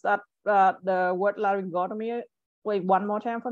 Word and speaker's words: laryngotomy: that uh the word laryngotomy wait one more time for me uh largest go to me Perfect all right so the the stress is on the o like before the the atomy right so just remember